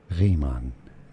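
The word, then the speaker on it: Riemann: In German, it is usually pronounced as Raymon.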